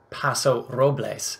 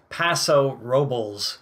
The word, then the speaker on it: Paso Robles: The Oaks in Spanish pronunciation varies between the Spanish Paso robes and the angelized Paso Robel which no offense but I think that just sounds kind of silly with a rich history